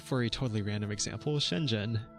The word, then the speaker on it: Shenzhen: a totally random example Shenzhen how do you say it what's that the H doing in there can you just ignore the H spoiler warning you can't is its own sound in Chinese definitely can't compete on